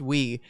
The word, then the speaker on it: Wii: in every day to ask do you have the Y console it's pronounced we and then once we